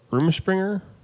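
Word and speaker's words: Rumspringa: that's like the room room Springer is how you say it yeah room Springer room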